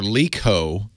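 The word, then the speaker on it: LeEco: then L EO or Leo Leo is how it's pronounced yeah weird you tell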